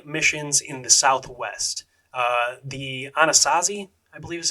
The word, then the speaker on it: Anasazi: The Anasazi, I believe is how you say it, natives, made most of these pueblos and different cliff dwellings.